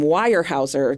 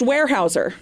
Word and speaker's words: Weyerhaeuser: I pronounced his name wire Houser the whole time in my head because it is spelled w ye e r h a e u s e r yeah but it is pronounced warehouser okay yeah that's it